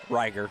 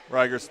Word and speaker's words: Reiger: Is that how you say her name? Reiger, Yeah, Reiger.